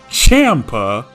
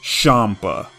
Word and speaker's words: Champa: If you said Champa, you're wrong. Following the naming for Hakaishin and their attendants revolving around alcohol, Beerus's brother is named after Champagne. Remove the last 3 letters of Champagne, you get Champa. Here's the katakana for it. Sha-n-pa.